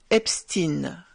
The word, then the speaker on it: Epstein: J'ai également voulu entendre la façon dont les Allemands eux-mêmes prononcent ce nom, et ils disent bien Epstein, comme démontré dans cette vidéo. Die ganze Welt schaut auf die Epstein-Files. Alors dorénavant, moi aussi je prononcerai Epstein.